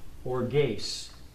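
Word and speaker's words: ὀργῆς: Now that word is pronounced in Greek, orges.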